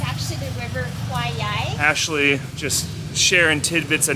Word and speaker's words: Khwae Yai: When that river was mispronounced, it's actually the River Kwai Yai. Ashley just sharing tidbits of knowledge. It's actually the River Kwai Yai, but it was mispronounced during the construction of it.